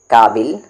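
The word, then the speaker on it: کابل: का फिर आगे जाहिल काबिल अच्छा यहां पर ये काबिल नहीं पढ़ेंगे इसे आप काबुल पढ़ेंगे क्योंकि ये जगह का नाम है ठीक है और काबिल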